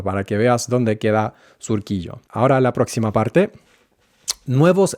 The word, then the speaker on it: Surquillo: Y fíjate en la pronunciación, que no es Surquillo, sino Surquillo. La U en español es así.